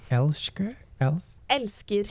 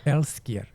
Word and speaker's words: Elsker: not going to be able to pronounce this either, Elsker? Elskir. Okay, Elskir.